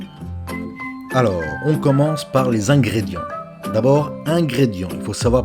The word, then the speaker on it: ingrédients: Un, IN c'est un, c'est pas in, c'est un comme 1, 2, 3. Ingrédient. On ne prononce pas le T, on ne prononce pas le S, on prononce en. Ingrédients.